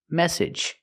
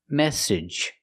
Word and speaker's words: message: ag at the end Ed it's a short sound plus the J like in juice and jump message this is the most